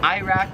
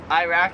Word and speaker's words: Iraq: next two are countries so Iraq we pronounce it Iraq you pronounce it Iraq like we say I they say Iraq Iraq same thing for